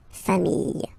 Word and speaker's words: familles: the plural form, les familles, okay, remember, chien, singular form, chien, same pronunciation, but you put this S, okay, final S, not pronounced, famille, singular form, famille, plural form, same pronunciation, S, not pronounced.